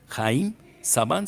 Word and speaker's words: Haim Saban: Haim Saban se escribe H-I-M, Saban S-A-B-A-N.